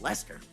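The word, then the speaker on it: Leicester: sense Lester Square spelled l-e-i-c-a-s-t-e-r spelled Lancaster and you just pronounce it Lester you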